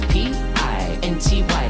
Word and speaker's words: Pinty: Just say my name properly, it's P-I-N-T-Y, that's P-I-N-T-Y, that's P-I-N-T-Y, it's Pinty, and tonight